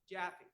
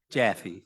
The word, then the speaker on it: Jaffe: Jaffe. Jaffe, thank you. Rhymes with Taffy.